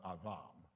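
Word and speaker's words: אדם: Well, Adam, the Hebrew pronunciation is more Adam.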